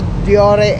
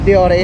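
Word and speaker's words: Deore: Shimano Diore XT. Sa ibang bansa ang pagkakapronounce ng Diore is Dior. Oh. Kaya normal lang naman Pilipino tayo, may pagkakaiba yung mga pronunciation natin.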